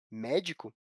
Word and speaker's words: médico: Dessa forma, a palavra médico é uma palavra proparoxítona, porque possui a sílaba tônica na antepenúltima, ou seja, na terceira posição da palavra, contando do final para o começo.